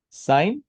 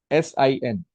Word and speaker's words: sine: is or today are sign. This is the first function. In short it is written as s i n. We pronounce it as s. Don't pronounce it as sin or else you will commit one.